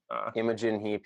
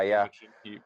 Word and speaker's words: Imogen Heap: music, where, who is it, Imogen Heap, or pronounce her name? Imogen Heap, yeah. Imogen Heap, yes.